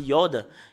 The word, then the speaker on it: י: vous voyez ce terme c'est Yod et le fait de le lire c'est I et cela la signification